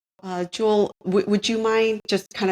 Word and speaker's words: Jules: He goes by both, but his real name is Jules, like pronounce it the French way. Jewel, would you mind just kind of talking to us about CAFO and what is it all about?